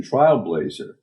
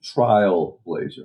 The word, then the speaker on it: Trialblazer: Uh but uh it actually is Operation Trialblazer, as in clinical trials.